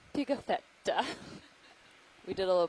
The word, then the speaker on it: Pigafetta: is named after antonio picatheta who was an italian or a steve would like me to say it antonio pigafetta we did a little